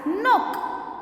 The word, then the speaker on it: knock: to be pronounced earlier for example nok nowadays we pronounce it as nook nook case silent